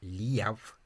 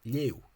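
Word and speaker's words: léamh: And the Ulster person would think, oh, that's just one syllable, so they'd say, oh, that's leu, but it's not. It's leu, 2 syllables.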